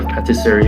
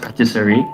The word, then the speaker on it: patisserie: can't remember okay okay british uh pronunciation it's just patisserie but then french it has a bit more of an accent to it oh um talking